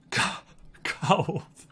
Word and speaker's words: calf: Calf. How do you pronounce it? The meaty part on the back of your lower leg. What's going on with this queue time suddenly? Don't pronounce the L.